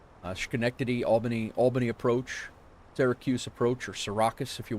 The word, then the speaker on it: Syracuse: Uh, Skenctity, Albany, Albany approach, Syracuse approach or Sarraus if you will. Um, say it correctly. It's Sarraus.